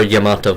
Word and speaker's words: Yamato: Or Yamato, depending on your pronunciation. Yamato. That's a Japanese pronunciation.